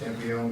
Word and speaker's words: Campione: Be it resolved that Michael Campione, is that the way it's pronounced? Yep. Yes. Campione be appointed fire warden at an annual salary of $1,026 for a term to expire 12/31/25.